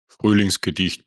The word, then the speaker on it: Frühlingsgedicht: This is German words, so I asked my Austrian friend to pronounce the title and composer for us, and here's how he said it. Frühlingsgedicht by Adolf Böttger.